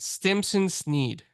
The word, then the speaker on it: Stimson Snead: Community but we and if I say your name wrong I'm just bad with names but let's just I'm gonna try it Stimson Sneed nailed it yes all right well welcome to